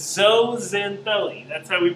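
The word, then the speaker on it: zooxanthellae: is but you don't prance at zoo it's so Zen belly that's why we pronounce this particular term it is a type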